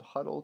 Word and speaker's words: Hudl: here for it uh it's called huddle technique but it's spelled hu DL you just search for